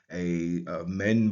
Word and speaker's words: Amen: by a reed leaf, a mend board, and a ripple of water. The transliteration for that is AMEN, sometimes just AMN, sometimes IMEN, and we will read that as Amen.